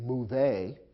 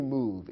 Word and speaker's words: move: It ends with a silent e. Although the e is there, we don't pronounce it. We don't say move a in English, simply move.